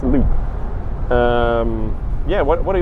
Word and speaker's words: Lopp: Did I pronounce it correctly? Yes, you did. Wonderful. And, hang on, it's actually Loop. Correct. As you can tell, it's Loop.